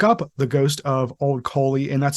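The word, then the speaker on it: Caly: if you look up the ghost of old Coley and that's spelled c a l y you will see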